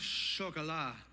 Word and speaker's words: Chocolat: a few years old now it's movie called Chuck a lot I think is how you pronounce it someone early in the service was like it's pronounced shock Allah I was like I'm not doing it on